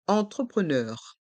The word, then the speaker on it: entrepreneur: begin e end entrepreneur ce mot a deux sons distinctifs en au début du mot e n et E à la fin du mot les vOYEL eu u entrepreneur et voici le dernier